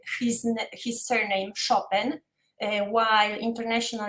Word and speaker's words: Chopin: pronunciated his his surname chopin while international it's chopin so it's more more like french accent because he spent most of his life in france um so friedrich chopin